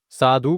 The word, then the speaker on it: साधु: क्योंकि आपका उच्चारण सही नहीं हुआ होगा। साधु बोला होगा आपने। साधु का जीवन जो कि गलत है। साधु होगा। साधु तुरंत खत्म हो जाएगा। ध में जो ह्रस्वुकार लगा है इसीलिए लगाया गया है ताकि इसका उच्चारण सही हो सके। साधु हो गया खत्म। यहां पे अगर हम साधु बोलेंगे तब जाके दीर्घुकार लगेगा। ठीक है दोस्तों?